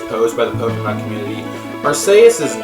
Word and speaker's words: Arceus: that the Pokemon Company has confirmed that it's pronounced Arceus.